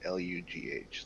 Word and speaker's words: Lugh: How do you pronounce Lugh? Is it Lugh? Is it Lug? Lou. Lugh. Lou. Lugh? Yeah, Lou. Lou, like potty Like in Lou.